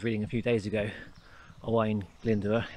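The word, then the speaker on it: Owain Glyndŵr: a few days ago hawaiian linda that's how you say it he was the i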